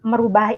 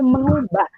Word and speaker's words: mengubah: Nah, sebenarnya merubah itu tidak baku ya. Seharusnya ditulis dan diucapkannya itu mengubah. Karena asal katanya itu ubah, bukan rubah.